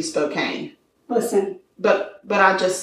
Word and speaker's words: Spokane: from that area and they call it spokane but it's it's um spelled with an e so it should be a long a should be spokane listen but but i'll